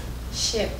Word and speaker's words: ship: repeat for me ship ship ship has the same ey sound as the i in sick ship sick ship sick